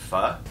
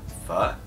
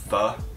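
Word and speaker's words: phở: Did you know that pho is actually pronounced pho? Like if you're asking a question, pho. It's not pho. It's not pho. It's pho. Or pho.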